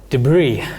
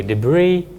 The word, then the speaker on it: debris: need your help again debris uh you don't pronounce the last s so it's a bit of a funny word but anyway debris it's broken or torn